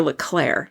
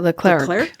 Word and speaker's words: Leclerc: Kelly, Leclerc or Leclerc? How is it pronounced? I pronounce it Leclerc.